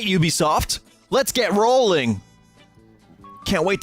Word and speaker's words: Ubisoft: here at E3 Ubisoft let's do this sorry Ubisoft I learned yesterday how to pronounce it properly at the Microsoft conference Ubisoft